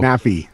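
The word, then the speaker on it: Nephi: his name uh well it's n-e-p-h-i so nappy nappy thank you i can't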